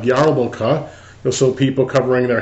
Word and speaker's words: Yarmulke: This is the easiest kind, just called a Kippah or Yarmulkah, spelled with an R, like Yarmulkah.